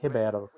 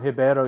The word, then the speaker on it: Ribeiro: And what we would normally pronounce as Ribeiro in Spanish, in Portuguese is Ribeiro.